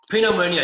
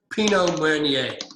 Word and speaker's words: Pinot Meunier: Pinot Meunier. You don't pronounce the R at the end. Pinot Meunier.